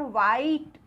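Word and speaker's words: white: है अब यहां पर व्हाइट यहां पर भी देखिए ब्लू के आगे हा आया तो हमने हा तो नहीं बोला हमने क्या बोला व्हाइट यहां पर भी हमारा है साइलेंट फिर विच कौन सा ठीक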